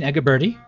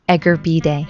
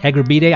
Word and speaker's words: Egurbide: We're here with Egerberti. I pronounced that correctly? Egerbide. Egerbide.